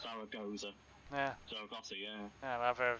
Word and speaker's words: Zaragoza: What, Saragossa? Zaragoza. Yeah. Zaragoza, yeah. Yeah, whatever it's pronounced.